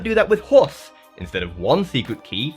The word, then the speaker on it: HORS: Because I hash and chunk up my message, obtaining random subsets, this system is known as uh luckily it's pronounced horse so I can keep my video monetized.